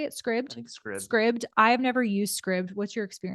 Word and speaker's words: Scribd: is something to consider and then there is scribe does how you say it Scribd Scribd I have never used Scribd what's your